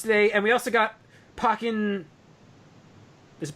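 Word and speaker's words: Pokkén: So that's what we get announced today, and we also got Pokken. Is it Pokken? Ultra. Pokken.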